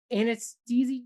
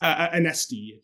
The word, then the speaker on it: Anesti: Which is Artificially Intelligent, a Greek guy, Anastasi? Anesti. Remember, he told us how to pronounce his name.